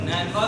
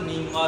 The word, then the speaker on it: नीनवा: ये लफ्ज नैनवा भी कहते हैं और नीनवा भी कहते हैं, लेकिन ज्यादा इसकी प्रोनाउंसिएशन नीनवा है।